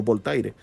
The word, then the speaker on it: Voltaire: Hubo un filósofo del siglo X, XVI, que se llamaba Voltaire, pronunciándolo en castellano, Voltaire.